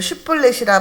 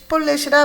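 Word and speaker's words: 쉽볼렛: 이제 일어나죠 6절 보겠습니다 그에게 이르기를 쉬불 렛이라 발음하여 하라 하여 에브라임 사람이 그렇게 바로 말하지 못하고 레이라 발음하면 길르앗 사람이 곧 그를 잡아서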